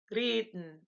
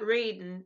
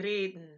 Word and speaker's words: reden: So you'll take that R sound and you'll say reden, not reden, you say reden.